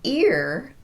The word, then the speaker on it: ear: And on ear, I'm starting that beginning sound abruptly with no glide.